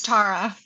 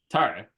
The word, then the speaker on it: Tarra: Is that how I pronounce it? It's Tara. Tara.